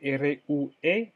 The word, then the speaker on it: rue: Y la calle se dice rue, se escribe R-U-E, pero se dice rue, la calle.